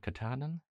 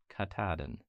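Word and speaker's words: Katahdin: how do you say how would you look at that and go not Mount Katen katadin did I spell it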